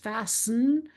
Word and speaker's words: fasten: However you pronounce this word, some people pronounce it with a littlewah there, a little neutral vowel. Some people don't even pronounce that at all. just fasten.